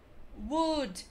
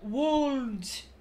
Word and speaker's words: would: O correto é talk, walk, talk, walk, have, salmon, should, could, would, e não would. Você não vai pronunciar aquele L que tá ali.